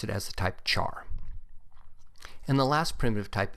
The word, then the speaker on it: char: the type of char you may hear people pronounce it as type care since it is short for character but I've always pronounced it as a type of char and the last primitive